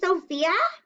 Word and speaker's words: Sophia: much princess but yeah sophia ph sounds like an f so sometimes when you